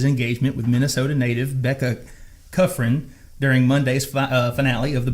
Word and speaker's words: Kufrin: Cuffrin.